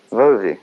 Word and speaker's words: Bowie: You pronounced it correctly. I did, Bowie, yeah.